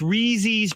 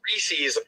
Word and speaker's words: Reese's: are you doing i'm gary goes that's reezy's peanut butter cups right you didn't hear me again the guys here told me it was reese's i thought it was